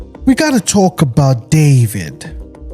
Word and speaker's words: D4VD: car belonging to the pop star known as David spelled with a four.